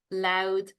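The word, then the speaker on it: Louth: one to say Longford loud me so they have a a a d sound rather than a t sound buley West me Wicklow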